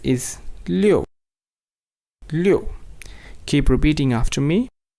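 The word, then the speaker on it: 六: write it is fourth stone and it is pronounced as leo leo leo as we go ahead it is 7 7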